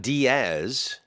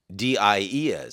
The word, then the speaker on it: Diez: Not Diaz, Nope. Diez. So, did I Yes.